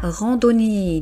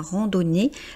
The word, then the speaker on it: randonnée: Ici, on est sur un mot féminin donc mais on ne prononce quand même pas le e.